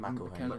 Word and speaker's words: McElhenney: Rob. How do you say his name? McElhenney. McElhenney. It's Yeah.